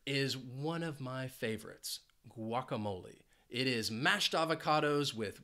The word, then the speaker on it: guacamole: I love guacamole and it has four syllables and the stress is on that third syllable now I am saying it like many Americans Say guacamole now it is a Spanish word and in Spanish the correct pronunciation would be guacamole guacamole so just just know that the correct pronunciation would be guacamole even though if you if you travel to the US you might hear a lot of English speakers saying guacamole oh guacamole I thought it